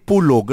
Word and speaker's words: Pulag: doon Twice so pero sometimes it called pulog Ano Bakit Yes ah na maaaring nagkakaroon lang ng difference sa pronunciation ng mga ah tao roon Oo though technically what they say is Mount Pulag Pulag Pulag tapos yung